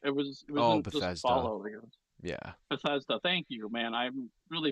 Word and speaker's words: Bethesda: best or they do fall out I know Bethodia does fall out but it was it was fall Bethesda thank you man I'm really bad at pronouncing